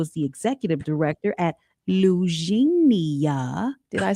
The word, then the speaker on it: Lugenia: Rod Wilson, who is the executive director at Lugenia.